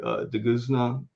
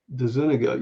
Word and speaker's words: DeZuniga: like John Buscema, Tony DeGuzna. How do you pronounce his last name? I've only met him once. I think it's DeZuniga. DeZuniga, yeah.